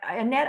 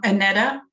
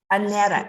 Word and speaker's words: Annetta: we write um i annette i didn't say your name right before say it right for me this time um annetta annetta it's the e at the end yeah it's like with